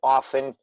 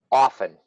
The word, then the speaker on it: often: And the second, some people pronounce the T in often, most people do not. For business, it's probably a good idea to make the T mudo, Okay. mute. So often, Often.